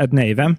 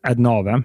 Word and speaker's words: Adnavem: Adnavim, eller hur uttalas det egentligen? Vi brukar säga Adnavim. Ja. En liten engelsk variant av Adnavim.